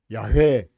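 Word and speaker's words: 야훼: 그러니까이 여호와라는 이름, 사실 여호와라는 이름은 정확한 발음이 아닙니다.이 학자들이 연구를 해 가지고 어 잃어버린 하나님의 호칭을 찾게 되었는데 아 정확한 발음은 야회가 맞다.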